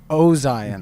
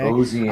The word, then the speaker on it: Ozien: Ozien. Okay. Sure. Like ozone. Like ozone. I got to try to remember that, okay? Ozien, Thanks for that, Ozien.